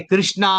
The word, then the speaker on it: कृष्ण: लेकिन ऐसा नहीं है कि कृष्णा अलग हो गया, कृष्ण अलग हो गया। अगर आप प्रोनाउंस कृष्णा भी करो, कृष्ण भी बोलो, तो यमराज थोड़ी आएंगे कृष्णा बोले तो, नहीं आएंगे।